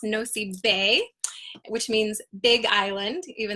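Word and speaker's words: Nosy Be: on here it's called no it looks like nosey B but it's actually pronounced no C Bay which means Big Island even though it's really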